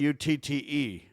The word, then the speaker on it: Rutte: warns NATO chief Mark, and how do you say it, Root or Rut? Let me just Rutte.